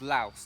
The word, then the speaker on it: Laos: to say it is laos to protect to pronounce the s it is the correct way to say it in english but i keep i